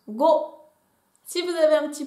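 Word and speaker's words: 五: On continue avec le chiffre 5 qui se prononce go.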